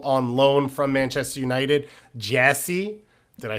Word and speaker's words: Geyse: Like, It's spelled Geyse, which is why we're so confused, because everyone who's just listening is like, yeah, we all know how to say the name Jesse, and I know.